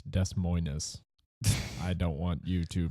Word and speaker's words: Des Moines: But It's Des Moines. I don't want you to mispronounce French.